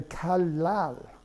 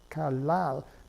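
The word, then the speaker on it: 칼날: And the way you say knife blade in Korean, you say kalal, kalal.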